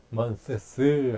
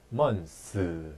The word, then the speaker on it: months: months인데 이거를 실제로 원어민들이 할 때 months 하는 원어민은 거의 없습니다.